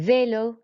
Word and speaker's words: vélo: And then vélo, we just raise our voice on the E because it's got the accent on there.